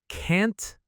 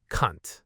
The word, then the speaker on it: can't: This one is another one where a small pronunciation error can lead to a really, really offensive word. We're talking about can't versus cunt.